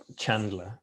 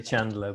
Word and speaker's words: Chandler: Well, firstly, I have to correct you with your pronunciation of Chandler, obviously, because being a good Northern boy, we say Chandler, but I'll let you off.